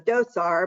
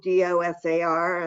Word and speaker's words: DOSAR: known as well as i call it the dosar but perhaps there's another pronunciation but it's certainly spelled d-o-s-a-r and i'm just calling it the dosar and